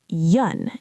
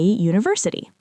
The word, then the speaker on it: university: It starts with a vowel letter U, but the sound is yun. It sounds like a Y sound, which is a consonant sound. So we say a university.